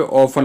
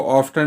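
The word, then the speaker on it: often: बार बार के लिए यहाँ पे ऑफन लगाया, ऑफन का मतलब प्रायः। इसको ऑफ्टन नहीं बोलेंगे, ऑफन बोलेंगे। ठीक है, टी साइलेंट है।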